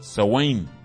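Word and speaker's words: Samhain: celtas adoraban al dios a wayne esa es la pronunciación se escribe sanz hein pero dice a wayne y lo adoraban en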